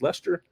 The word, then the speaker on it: Lester: Lester tester today because my name is Lester it Rhymes a test tester here's Monica miller4 she's